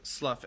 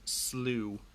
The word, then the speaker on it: Slough: despond and help so it looks like slough s-l-o-u-g-h but i think it's pronounced slew of despond and help